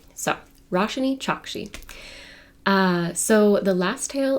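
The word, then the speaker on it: Roshani Chokshi: I'm glad I looked it up because it's pronounced rash chaki and I think I was saying rosan Choi so rash chaki uh so the last tale of the flower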